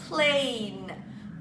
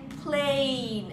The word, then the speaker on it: plane: وخلي بالك عندك magic e at the end، فعشان كده روحنا نطقنا ال a ب a زي ما هي، يعني اسمها a اوعى تقولها plan a، لا هي مش plan خالص، هي plain عشان عندي magic e في الاخر.